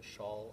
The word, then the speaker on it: Charl: pronounce your name correctly well it's pronounced like a woman wears a shawl on her shoulders so the name is sha